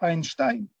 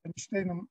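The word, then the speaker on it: Einstein: Ну, тоді з'явився Айнштайн, це так Айнштейном називають, тому що треба відкрити підручник з орфоепії німецької і побачити, що сполучення «е» наше і «і» наше завжди читається «ай» німецьке, «ein, zwei, drei»,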